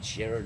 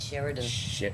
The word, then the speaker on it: Sheeran: It had that Ed Sheeran in it. Did they say his name? Ed Sheridan. No, Sheeran, isn't it?